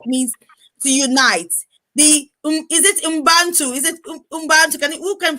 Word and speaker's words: Ubuntu: Is it Ubuntu? Is it Ubuntu? Who can pronounce that for me again? Ubuntu, the spirit of Ubuntu.